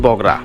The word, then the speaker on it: বগুড়া: অঞ্চলের নাম হয়েছিল বগড়া ইংরেজি উচ্চারণ বগড়া হলেও বাংলায় কালের বিবর্তনে নামটি পরিবর্তিত হয়ে বগুড়া শব্দে পরিচিতি পেয়েছে দোসরা এপ্রিল 2018 সালে